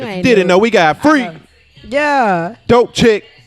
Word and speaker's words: Free.K: didn't know we got free yeah dope chick k is silent huh get on youtube